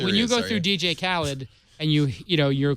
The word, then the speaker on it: DJ Khaled: is it or khed khed well he said that's how he pronounces it is it 50 cents